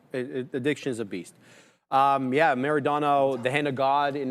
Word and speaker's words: Maradona: Madonna. Yeah, Madonna. How do you say it? Maradona, bro. Maradona, bro.